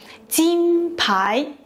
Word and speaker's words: 金牌: First up, we have 金牌, which is pronounced 金牌, easy, right?